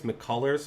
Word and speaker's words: McCullers: righty making his first career start tonight lance mccullers is that it is that how you say